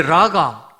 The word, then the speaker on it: 라가: 히브리어 욕설이 입니다 e 라 가 정확하게 바람으로 락커 아니라 카 2 라가 라는 발음을 하려고 하면 은 우리 목에 가래가 있음이 가래를 뵙기 위해서 목에 힘을 주지 않습니까 퇴 배 짠 아요 그렇게 발음을 해야 정확하게 소리가 나는 단어의 그래서 카 여름에는 소리 자체가